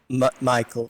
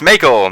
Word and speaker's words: Maechael: he is indeed a wizard you're a wizard Michael M Michael right yeah it's Michael Mich so it's one of those weird things everyone's like it's it's Michel Mel Mel I'm like it's just Michael and I'm John and they're like the [